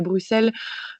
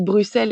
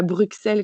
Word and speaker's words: Bruxelles: euh d'ailleurs je dis Bruxelles et pas Bruxelles comme en France parce que c'est en Belgique on dit Bruxelles ça se prononce avec deux S et on prononce pas le X euh et donc euh